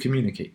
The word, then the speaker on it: communicate: And that's what we see with communicate. Communicate, pa-pa-pa, the pa-pa-pa. It means this 100 stress pattern is the ending assigned stress on the antepenultimate syllable is what we have, communicate.